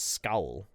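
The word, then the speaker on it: skál: Sonia B, that was a great Scandinavian skull, but skull, the closest pronunciation is scowl.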